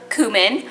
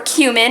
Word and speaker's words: cumin: of chili powder and half a teaspoon of cumin or cumin depending on how you pronounce it you're going to want some salt